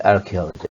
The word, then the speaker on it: archaeology: I hope you'll look here at the word archeology see here the CH here is CID are